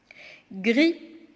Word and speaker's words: gris: Si vous remarquez bien, dans gris, si on transforme l'adjectif au féminin, on va trouver la lettre muette grise. Alors, le S, c'est une lettre muette et qui se trouve à la fin du mot.